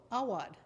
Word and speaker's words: Awad: He said, you know, like the American name, Howard. I said, oh, Awad.